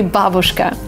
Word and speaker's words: babushka: And maybe it's just natural for English native speakers to stress the second part of the word, but it's originally babushka.